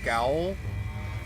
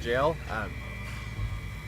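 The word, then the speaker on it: gaol: You know, I I always call that the G gallow, but apparently it's pronounced jail.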